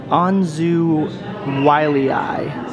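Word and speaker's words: Anzu wyliei: at pronouncing things but according to that little pronunciation guide this chicken from hell is called an anzu wiley eye and these things are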